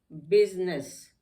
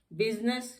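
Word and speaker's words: business: फिर आ जाता है आई साइलेंट इन, आई कहाँ कहाँ साइलेंट है, सूट, बिजनेस। अब सूट में भी देखिए स्वीट नहीं कहते हैं, सूट कहते हैं। बिजनेस, बिजनेस कहते हैं, बिजीनेस नहीं कहते हैं, तो यहाँ पे आई साइलेंट हो जाता है।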